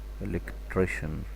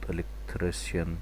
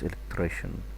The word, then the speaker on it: electrician: You have to know the CI here, it's pronounced like sh. Electrician, not electrician. Okay, it's electrician, it's electrician.